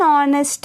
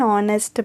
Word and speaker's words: honest: An honest man, because the H here is silent, an honest man.